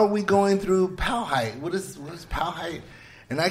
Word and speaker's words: Powhite: Okay. Wow. White. No. P-O white.